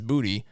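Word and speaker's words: Boutte: that uh booty Phoenix Rising the Patriots is booty but the all these announcers continue to say bout that's not how he pronounce his name it's booty just say are they trying to be funny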